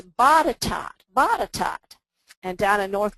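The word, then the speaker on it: Botetourt: best Barbara Vines little has corrected my my pronunciation for I called it bod tort because it looked like court but Barbara corrected me she's one of the Premier Virginia researchers and she says no Barbara it's batat batat and down in North Carolina jool and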